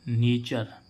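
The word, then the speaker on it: nature: है ना तो इस इसको हम क्या पढ़ेंगे नेचर क्या उच्चारण आ रहा है इसमें अर तो नेचर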